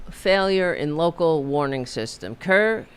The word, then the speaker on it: Kerr: For example, there were a there the critical failure in local warning system Kerr I guess. Is that how you pronounce it? Kurr County, K E R Kurr County. Kerr Kerr, okay.